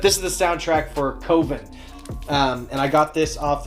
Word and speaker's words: Coven: Coven. No. Coven sounds like oven, man, and that's just, it doesn't work. Unless you want to put an umlaut or something over the O.